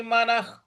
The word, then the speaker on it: मनः: मनः, म के बाद जो विसर्ग है उसका उच्चारण हमें ख में ले आना है।